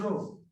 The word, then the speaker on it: rho: हम लोग प्रोनाउंस क्या करते हैं? रो, ठीक है।